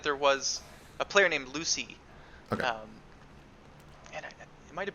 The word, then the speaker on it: Lucy: where I'm like, yeah, every time I see the name Lucy, I pronounce it Lucci.